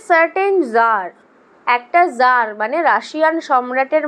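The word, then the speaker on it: tsar: টিএস এ এর উচ্চারণটা টাজার নয়। জার।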